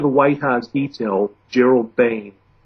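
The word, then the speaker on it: Behn: White House detail, Gerald Bain. Last name is spelled B-E-H-N, Bain.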